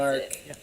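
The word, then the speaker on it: Gnark: There's a silent G at the start, Blake. Yeah. Like gnome. G-N-A-R-K. That's Narc.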